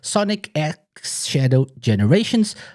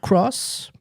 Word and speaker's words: Sonic X Shadow Generations: guys' thoughts on on the the game so Sonic X Shadow generations not cross not it's Sonic X Shadow generations that's how to properly pronounce it AR's like what the hell have